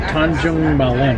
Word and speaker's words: Tanjung Malim: The train has stopped in Tanjung Malim.